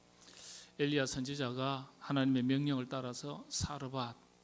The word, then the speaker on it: 사르밧: 엘리야 선지자가 하나님의 명령을 따라서 사르밧 아 사르밧이라는 동네로 어 원래는 이제 원문을 보면 사렙다라고 발음을 합니다.